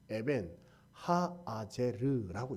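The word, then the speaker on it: אבן העזר: 그래서 본래 에벤에셀을 히브리어로 어떻게 읽냐면 이렇게 읽습니다. 에벤 하아제르라고 읽습니다.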